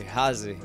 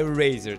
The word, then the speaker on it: Razer: Eu acho que ninguém chama ela de Razer, espero eu. Se não, ó, a pronúncia certa é Razer, tá?